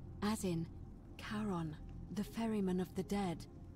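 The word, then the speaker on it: Charon: it's just as you described it only your pronunciation is a little off the name you heard wasn't karen it was c h r o n as in caron the ferryman of the dead karon who in exchange for the right coin helps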